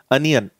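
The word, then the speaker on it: onion: जैसे आप प्याज, इंग्लिश में सभी को पता है इसको ओनियन बोलते हैं, आप इसको गलत प्रोनाउंस करते हो, इसका करेक्ट जो प्रोनाउंसिएशन होता है दैट इज अनियन।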